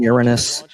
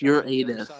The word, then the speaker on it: Uranus: Same with Jupiter, Neptune, Uranus. I think it's pronounced Uranus. No, it's Uranus. It's based off the Greek god. Um, the Greek and Roman god Uranus.